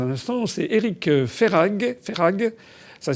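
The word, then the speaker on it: Verhaeghe: Ferrag, ça s'écrit V-E-R-H-A-E.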